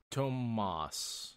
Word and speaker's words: Tomas: This Thomas, or is it Tomas? Tomas is how it's said in the audiobooks.